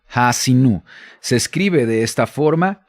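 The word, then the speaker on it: Ha'azinu: El nombre de la porción en hebreo se pronuncia así como lo tenemos en la fonética, Ha'asinu. Ha'asinu.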